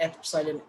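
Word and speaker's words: epsilon: ये जो K है, this K is equal to 1/4 पाई एप्सिलॉन, और ये जो लिखा मैंने एप्सिलॉन, इसको कहते हैं एप्सिलॉन, APSILON, एप्सिलॉन से प्रोनाउंस करते हैं।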